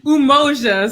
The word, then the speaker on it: Umoja: the first one is Umoja. Is that right? Or Unity. I can say Umoja. So in Swahili, the U's are just pronounced like ooh. So if it's a U, it's a ooh.